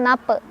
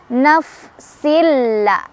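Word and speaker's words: نفس: Naf, bibir bawah bagian dalam ketemu ujung gigi ya. Naf. Jangan juga mantul nape, tapi naf. Naf silla.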